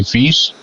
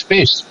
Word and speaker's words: Vis: If you pronounce my name and you say Vis, that means dirty in Dutch. So, no, it's Vis. It's the Dutch. It's a translation for the word fish in English.